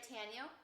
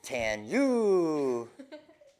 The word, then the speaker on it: Tanyu: Okay, is this right, Tanyo? No, it's not Tanya. Tanya. It's Tanyu. Tanyu.